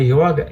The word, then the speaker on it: yoga: letra A da palavra yoga é o nosso circunflexo. Não é. Aquele é um diagrama sânscrito que indica que ao pronunciar a palavra deve ser, a vogal deve ser alongada. Yoga, yoga, né?